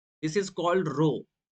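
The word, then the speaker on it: rho: और इसे हम लोग डिनोट करते हैं रो से। This is called रो। This is called रो। Okay, इस तरह आप इसको प्रोनाउंस करेंगे।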